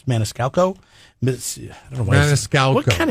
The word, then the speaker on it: Maniscalco: some tickets to sebastian manixcalco i said that right right it's maniscalco i don't know what